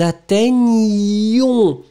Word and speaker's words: atteignions: La forme « nous », elle est quand même sportive, « nous atteignions ».